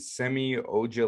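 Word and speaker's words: Semi Ojeleye: pistons got baggly clippers got rodney hood and semi-auger that's how you say his name sami usually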